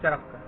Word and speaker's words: Charaka: ठीक है, नाउ the letter C stands for CH as in charaka, pronounced as charaka.